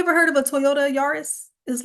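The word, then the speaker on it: Yaris: So, I think it's pronounced Yurus, but um Yari rhymes better with Ferrari. But have you ever heard of a Toyota? Yurus is like their most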